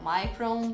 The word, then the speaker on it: Micron: ela se chama o micro ou micromo micron depende da sua pronúncia mas está tudo certo